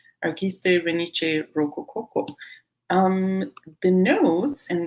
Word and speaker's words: Arquiste: Is Arquiste? I don't know what it means, but I know that's how it's pronounced. Arquiste Venice Rococo.